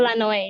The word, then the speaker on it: Lanoy: By the way, is it really correct to call you Lanoy, the pronunciation? We call Lanoy, yes. Mostly Lanoy, people right? call me Lanoy.